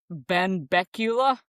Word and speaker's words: Benbecula: It happened in, God, I had the pronunciation right. Benbecula.